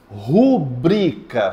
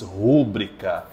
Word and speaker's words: rubrica: faz xerox como xerox rubrica fale rubrica faça sua rubrica 1 2 3 diga faça sua rubrica perfeito não aceita a pessoa que diz rúbrica joga uma pedra pudico